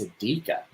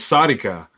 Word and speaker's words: Sadika: It's Sadika. Yeah. Sadika. Okay, I have to write this down. Sadika is how he pronounced it. Yeah. I thought it was Sonica, but Sadika, a little smoother.